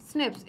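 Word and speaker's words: SNPs: show हो रहे हैं प्रोनाउंसड एज स्निप्स इसे इन्होंने क्या बोला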